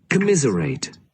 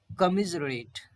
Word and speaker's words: commiserate: commiserate, कमिजरेट, कमिजरेट, correct pronunciation इसका क्या है, कमिजरेट, कमिजरेट। ये कॉम नहीं होगा, कॉमिजरेट नहीं होगा, का बोलेंगे सी केबल, का और मिज और रेट।